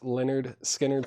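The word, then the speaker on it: Lynyrd Skynyrd: Leonard Skannard, pronounced Leonard Skannard, $36.99 on that.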